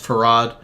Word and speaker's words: Fard: pronounce his name because it's spelt fard f-a-r-d his name is pronounced farad uh if that's not